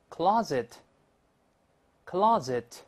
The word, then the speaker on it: closet: 好，再读一下美式这个壁橱 closet，closet，但是读快之后，后面这个 t 失去爆破了，就